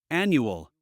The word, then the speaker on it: annual: In English, it's never stressed with the al. So we would say, final, annual, manual, and again, you see the final sound is very small, very insignificant. So we say final, nu, nu, final, annual, new, manual. Make it very small, very insignificant. The stress is on the other part of the word.